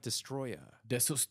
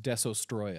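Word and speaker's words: Destoroyah: They're going to fight Destroya. I'm sorry, you're pronouncing it wrong. It's pronounced Desostroya. Desostroya? Yes, because they could not copyright Destroyer.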